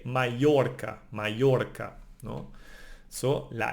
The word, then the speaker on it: Mallorca: That's interesting because the double L, it's actually a letter of the alphabet, no? It's no, A, no? And it's pronounced like Y, no? Like in Mallorca, no? We don't say Mallorca, we say Mallorca, no?